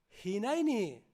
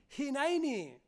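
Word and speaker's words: הנני: pudiéramos decirla de corazón esta palabra es jinani se escribe como habéis visto h y n a y n e e hinainy que tú puedes salir de aquí diciendo henainy Qué significa heme aquí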